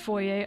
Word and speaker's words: foyer: 2 stream is finally come true also it's pronounced foyer I didn't even say I wasn't even saying